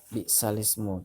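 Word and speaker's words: بِئْسَ الِاسْمُ: Nah, bi'salismu. Tulisannya bi'sal ismu, dibacanya bi'salismu. Ini termasuk hukum bacaan nakal.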